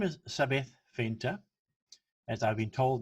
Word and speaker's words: Zabeth: now her name is sabith fenter as i've been told now you spell it or you pronounce it with an s and leave the t out so sabath is a chartered accountant